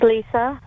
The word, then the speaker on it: Lisa: Hi, this is Lisa. Oh, Lisa. Oh, Lisa, not Risa. It's spelled with an R here, so my apologies.